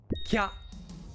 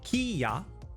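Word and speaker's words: きゃ: For example, ki and a small ya make kya, not kiya, but kya, 1 syllable.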